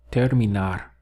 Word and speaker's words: terminar: The verb to finish is terminar. So 3 syllables.